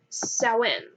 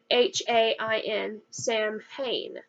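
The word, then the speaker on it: Samhain: was a festival called sowin spelled s-a-m-h-a-i-n Sam Hayne but if you open an Irish dictionary you will know that it is pronounced Stone was a Celtic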